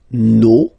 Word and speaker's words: nos: Okay, and then for the plural, nos, vos, and then leur. Okay, so remember, even if you've got this final S, you don't pronounce it, as it was the